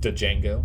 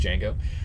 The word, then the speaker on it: Django: Like Django, the D is silent. It's not Django. Yeah, it's just Django.